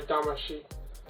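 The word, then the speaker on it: Damacy: sheet will cut tomorrow dama she is that's how you say it so much he absolutely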